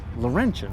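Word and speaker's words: Laurentian: And that and this is this is a Canadian Pontiac Laurentin, right? Yes. Did I pronounce that right?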